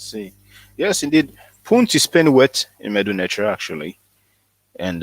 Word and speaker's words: Punt: Punt is Penuet in Medu Neter actually, and it is written.